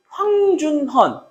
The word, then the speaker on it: 황준헌: 황준헌. 근데 중국 발음으로 황준쉔입니다. 그래서 여러분들이 발음하실 때 황준현이라고 하면은 틀려요.